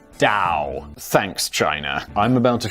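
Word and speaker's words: Tao: gentlemen," he says, addressing the small gathering of notable followers of the philosophical tradition of Dowoism, which is always confusing cuz it's spelled with a T, but it's pronounced Dao.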